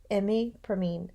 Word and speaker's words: imipramine: And I think I put the urine sample there, and I just think imi rhymes with P, imipramine.